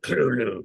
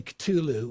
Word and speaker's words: Cthulhu: It' be like Kulu. You know, you say it that way. But, right. It's a name not meant for human tongues. Yeah. So, I'm like, you're correcting my pronunciation on a name not meant for human tongues. So, I do say Culu, which is probably no better than anything else, but I don't know. I think it works for the song.